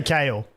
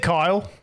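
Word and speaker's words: Kael: Bro, have I been saying it wrong the whole time? I say Kale. Is it Kyle?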